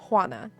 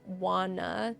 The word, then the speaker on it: Juana: I know that it's pronounced Hana, right? But most people say wanna like most people turn it into a W sound like this Americanized wana type of thing, which I don't care.